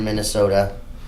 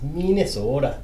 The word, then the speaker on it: Minnesota: Minnesota against Joey Monks. I think you pronounced Minnesota wrong. It's Minnesota. Minnesota. It's like almost a Canadian accent, but it's not.